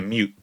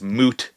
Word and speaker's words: moot: And that's like when someone says to me, that's a mute point, when really what they should be saying is moot point, not mute point.